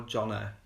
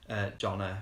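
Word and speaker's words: Jón: They pronounce the J as a Y, so it's Jon, I think, rather than Jonna, because Jonna is a girl's name, but Jon is a boy's name.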